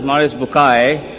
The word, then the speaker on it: Maurice Bucaille: and a scholar of Quran Dr moris buk pronounced as moris bukai am I right doctor do matter okay uh